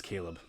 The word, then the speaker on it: Chleb: Is that Caleb? What's the topic of the email? It's Q for the pod. Okay. It is Caleb. And then, but it's spelled Chleb, and he spells it differently.